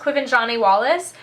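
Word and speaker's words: Quvenzhané Wallis: The little girl who plays Annie, who I'm pretty sure her name is pronounced Quiven Wallace, she is absolutely fantastic.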